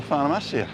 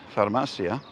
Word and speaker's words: farmacia: there's a little thing in spanish you always pronounce the second to last syllable as the one that you saw isn't unless there's an accent over another letter so pharmacia and cafeteria so this is the